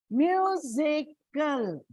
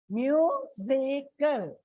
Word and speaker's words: musical: Musical. Musical. Trisyllabic word, so it comes on the first.